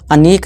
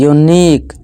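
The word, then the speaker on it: unique: जैसे कि union, onion नहीं यूनियन पढ़ेंगे। इस तरह से अनीक नहीं यूनिक, इस तरह से यूनिट पढ़ेंगे, अनिट नहीं।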